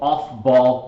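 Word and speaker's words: Aufbau: now is what's called off ball principle it's actually pronounced off-ball okay so it should almost be like o-f-f-b-a-l-l off-ball principle electrons will always enter the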